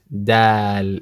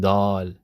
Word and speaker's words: د: me die die die dal is what we need not doll they've dad I couldn't